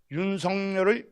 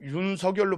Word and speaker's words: 윤석열: 그리고 특히 사람 이름에는 니은 덧나기가 일어나지 않는다고 하면서 임영웅을 임명웅 장윤정을 장윤정 선우용을 선우용 김열화를 김연아 이총영을 이영 이을룡을 이을룡 윤성열을 윤석열로 발음하고 있습니다.